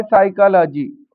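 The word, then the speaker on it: psychology: जैसे यह लिखा है साइकोलॉजी। अब साइकोलॉजी में पी तो दिया है लेकिन पी साइलेंट है और शुरुआत हो जाती है एस से तो साइकोलॉजी होती है मनोविज्ञान इसी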